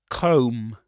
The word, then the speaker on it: comb: Comb. Comb. You don't pronounce the final B again.